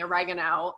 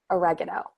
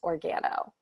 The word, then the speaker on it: Organo: I did it for the longest time. Organo? And Organo, but then even sometimes I was calling it Organo. I'm like origami. I think origami, Organo. So I believe it's pronounced Organo. I think Organo. What did I say? Oregano, like the Oregano, yes.